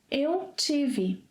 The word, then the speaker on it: estive: However, you will hear most Brazilians omitting the initial es. So instead of eu estive, you may hear eu tive.